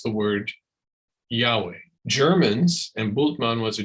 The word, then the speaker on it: Yahweh: actually why HWH in English we choose to pronounce the word Yahweh Germans and bultman was a German uh would